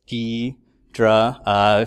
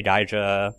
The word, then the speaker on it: Ghidra: it's your sre website they give you a way of how to say it so it's D drah know some people say daya I honestly don't care what you say but that is apparently their official way of saying it so it's software versus